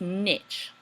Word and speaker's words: niche: I told you guys, remember, it's pronounced niche. Do not confuse it with anything else.